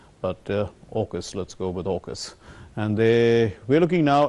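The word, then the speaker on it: AUKUS: Kingdom and in the United States some also pronounce it as a UK us or Oak us but August let's go with August and they we're looking now at What's called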